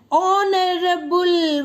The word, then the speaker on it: honorable: Bruce is, see children, honorable. What I told here, H is silent. Okay, now you will get the ear vowel sound. Honorable, O sound. Bruce is an honorable man. H is silent here.